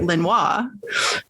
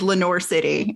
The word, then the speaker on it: Lenoir City: is spelled Lenoir, which if you spoke French or took any French, you would say Lenoir. It is Lenoir City, and it drove my father insane.